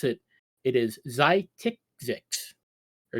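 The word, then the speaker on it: Xiticix: and I found out the proper way to pronounce it it is zytics or zytic IX is how you pronounce them they are the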